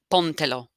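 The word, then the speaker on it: póntelo: now with two pronouns how do i find where i put my accent mark i cover up the pronouns that's te and lo two pronouns cover them up all i'm left with one syllable is pawn so the accent mark goes must go here on the o pontello put it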